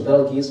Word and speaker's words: Betelgeuse: Yeah, you can pronounce it Betelgeuse or Betelgeuse. Betelgeuse is better.